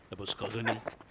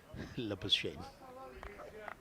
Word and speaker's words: Labuschagne: But I struggled most pronouncing Labuschagne, Labuskagani, Labushane, and finally I had to take help from Mr. Chishti Mujahid. I called him and asked him or requested him, sir, what should be the pronunciation? Then he told me that you should simply say Labuschagne.